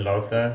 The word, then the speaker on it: Lothur: I said Lothur. It's actually pronounced Lothur, like loafers. I believe it's Danish for lather, Lothur, which is a cool name.